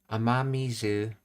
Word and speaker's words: 雨水: Oh, it's pronounced ama. Okay. Amamizu. Meanwhile, by itself, it's just ame.